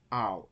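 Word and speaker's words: αυ: And ow, okay, alpha again, and now I add upsilon to alpha, and it becomes ow as in now.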